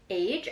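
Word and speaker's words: Aje: Oh, Aj? Pronounce like the number is so sick. I don't know how to pronounce that. Pronounce like the number? Age? Oh, age. I think she's saying pronounce like the number is so chic.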